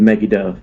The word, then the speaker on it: Megiddo: we were driving through the plains of Megiddo. Megiddo.